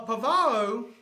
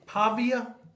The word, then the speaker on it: Pavia: Uh, Pavo, their quarterback. Pavia, is that how you say it? That's That's him. Pavia. Pavia. Pavia. Pavia. Pavia. Via. Pavia. There you go.